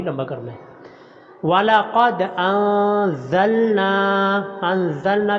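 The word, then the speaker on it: أنزلنا: کرنا ہے۔ وَلَقَدْ أَنزَلْنَا، انزلنا کے نون کو لمبا کرنا ہے کیونکہ اوپر مد ہے۔ الیک، کوئی حرف لمبا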